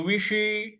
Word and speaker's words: विषी: विषी, विषी, ये जो व पे छोटी की मात्रा है और श जो है वो षटकोण वाला है, तो जीभ को थोड़ा सा मूर्ध्वा पे लगाएंगे रोल करके। तो विषी, विषी इस प्रकार से बोलेंगे।